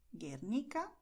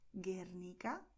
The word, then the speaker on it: Guernica: And in GUE, GUI, the letter U is silent. So we are going to say in Spanish, Málaga, Bogotá, Guatemala, Guernica, Guinea.